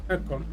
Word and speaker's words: Ekon: Не Экон, а Экон. Экон. На Э ударение.